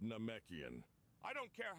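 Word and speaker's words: Namekian: It's pronounced Nomekian.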